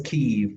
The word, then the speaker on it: Keeve: And your last name is pronounced Keith or Kiev? I can't. My last name is Keeve, Keeve.